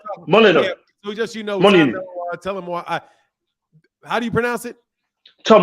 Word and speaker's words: Molyneux: I pronounce it Malino. Molyneux. Yeah, so just Molyneux. Tell him why. How do you pronounce it? Tom Molyneux. Molyneux. Tom Molyneux. Molyneux. It's a French last name. Like Melanois.